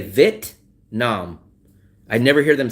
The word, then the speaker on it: Vietnam: I always they never pronounce the e. They don't say v it. They say vit vit.